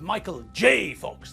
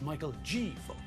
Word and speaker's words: Michael J. Fox: It's Michael J. Fox, not Michael G. Fox.